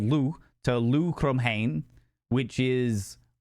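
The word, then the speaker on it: Lugh: of the uh the emerald aisle and basically Lou ended up going to the to the place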